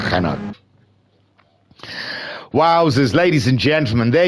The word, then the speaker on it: Renault: It sounds disgusting when I say Renault, but I do it on purpose. I'm so sorry if it makes you cringe every time. But, you know, it's how they say it over there.